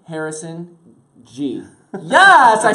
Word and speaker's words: Ghee: Harrison G.